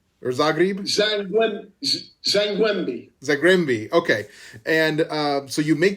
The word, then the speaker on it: Zagłębie: And that move from, am I saying it right, Zagreb? Or Zagreb? Zagłębie.